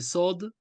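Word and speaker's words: صاد: son nom c'est SOD c'est une lettre emphatique lorsque vous le prononcez vous ne devez pas sourire pourquoi pour ne pas le confondre avec le SIG le SIG vous avez dans l'omine vous avez c'està-dire les dents vous montrez les dents le S lui en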